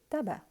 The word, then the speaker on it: tabac: donc au bureau de tabac c'est aussi une possibilité au kiosque ou au bureau de Taba on ne prononce pas le C à la fin d'accord c'est un C muet comme les mots blancs